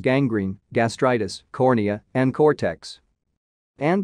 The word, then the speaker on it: gangrene: And they have hard sounds in front of other letters, such as gangrene, gastritis, cornea, and cortex.